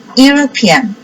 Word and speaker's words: European: European. So here pronounced like you.